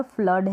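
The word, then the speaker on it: flood: mains हो गया मास फिर यहां पर है फ्लोर फ्लोर करके बढ़ते हैं जो की गलत हो जाएगा आपने देखा की डबल ओ है और डबल ओ को हम बड़े रूप में यानी इसका उच्चारण लॉन्ग होता है तो कहानी पर शॉर्ट भी होता है कहानी पर लौंग भी होता है तो यहां पर फ्लड है कुछ स्पेलिंग की हर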